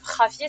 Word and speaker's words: Javier: Bah c'est un nom espagnol ou mexicain, donc Javier, ça se prononce comme ça.